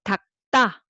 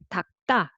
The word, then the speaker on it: 닦다: you read it together, but make it tense. So 닭다, 닭다, you read it as 닭다.